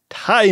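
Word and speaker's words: Tigh: Tie Me Up, Tie Me Down, spelled T-I-G-H. Now, this would have been pronounced quite differently on our first episode.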